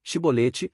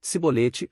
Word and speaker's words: chibolete: não então lhe diziam dize pois chibolete porém ele dizia sibolete porque não o podia pronunciar bem então pegavam dele